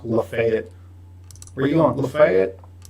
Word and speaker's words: Lafayette: It's pronounced Lafayette, Louisiana, or whatever, but the one in Georgia is pronounced Lafayette.